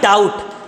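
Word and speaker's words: doubt: question देखते हैं भाई डाउट डाउट की स्पेलिंग एकदम सही है बी इसमें साइलेंट है हां ठीक है सर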